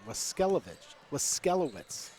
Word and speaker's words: Waskelowitz: We just got the pronunciation, Waskelowitz.